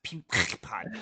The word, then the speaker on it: Peapod: And It's pronounced Peapod.